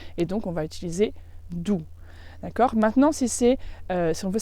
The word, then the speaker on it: du: Tu, c'est presque pareil, on change juste la première lettre, c'est du. Donc ça s'écrit aussi DU, mais le U se prononce OU en allemand.